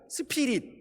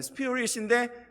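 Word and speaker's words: spirit: 저도 똑같이 한국에서 수십년 동안 배워온 그 영어 발음 그대로 스피릿 이렇게 했어요.이 단어는 정말 중요한 단어예요.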